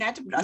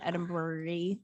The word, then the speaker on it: Edinburgh: That one needs to be done, but that's kind of Edinburgh related. You almost said it right. Edinburgh. Yeah, just imagine that you're wearing a woman's undergarment. Edinburgh.